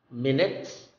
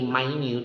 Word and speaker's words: minute: of time you say my mute it means very small or very tiny so in this case the change of uh pronunciation also meant a change in the definition okay next is again